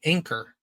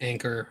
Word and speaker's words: Anker: Yeah, I just bought an Anchor power bank. So, I figured it wasn't a nautical reference. no, it's spelled Anker.